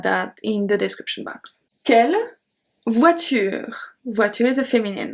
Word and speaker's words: quelle: So quelle can have four different spelling. We have quelle, Q-U-E-L, quelle, Q-U-E-L-L-E, quelle, Q-U-E-L-S, and then quelle again, Q-U-E-L-L-E-S. They are all pronounced exactly the same.